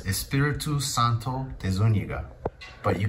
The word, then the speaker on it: Espiritu Santo: It's Espiritu Santo de Zuniga.